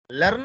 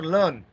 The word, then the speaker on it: learn: Learn or learn? Learn. Learn. Here also we should not pronounce this R.